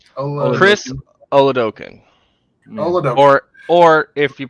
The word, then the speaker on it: Oladokun: Chris Oladokun. Oladokun. Or if you pronounce it how the other way I've heard it is Olodokun.